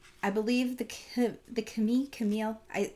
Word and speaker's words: Camille: believe the the Ki Camille I in the show they say Kam because that's how you say it in French right but I don't